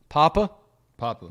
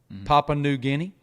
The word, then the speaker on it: Papua New Guinea: from papua new guinea how do you say that papua new guinea papa popular yeah okay papua new guinea uh it is really